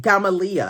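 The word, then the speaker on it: Gamaliya: of a quarter in Cairo called Gamaliel, is how it's pronounced.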